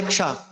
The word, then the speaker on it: ক্ষ: কিয় যেটা বলি, তো কিয় একটা যুক্তাক্ষর যুক্তবর্ণ। ক, আ, কহসন্ত আর মূর্ধন্য সূচকে এই যুক্তাক্ষরটি হয়, এটাকে আমরা বলি ক্ষ।